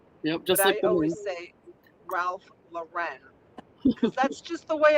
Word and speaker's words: Ralph Lauren: to say it the proper way which is Ralph Lauren yeah Ralph Lauren because that's just the way I was taught